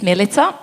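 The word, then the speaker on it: Milica: fruitful my name is milita but people call me Millie because they find it difficult to pronounce milit I always wonder why because it rhes with pizza and everybody can say pizza anyway this is not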